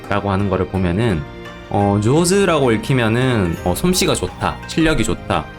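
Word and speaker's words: 上手: 이제 조즈다라거나 해타다 라고 하는 거를 보면은 조즈라고 읽히면은 솜씨가 좋다, 실력이 좋다, 스킬이 좋다 이런 의미가 되고, 베타라고 읽으면은 반이어로 이제 솜씨가 나쁘다 라고 하는 건데, 한자랑 전혀 상관없는 발음으로 읽히고 있죠.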